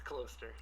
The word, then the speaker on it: Kloster: It's Kloster. Kloster. Yeah, it's German.